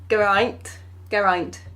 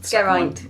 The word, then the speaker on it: Geraint: Geraint. Yes. Geraint. Yeah. Rhymes with pint.